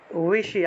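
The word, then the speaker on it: বিষীদন্তম্: উইশি, আমি বলি ব আর অন্তস্থ ব কিভাবে উচ্চারণ করতে হয়, আমি বলি ব উচ্চারণ করতে হয় ঠোঁট লাগিয়ে, আর অন্তস্থ ব উচ্চারণ করতে হয় ঠোঁট না লাগিয়ে।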